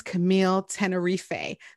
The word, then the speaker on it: Camille Tenerife: an extra special guest uh her name is camille tenerife did i pronounce that correctly you got it okay and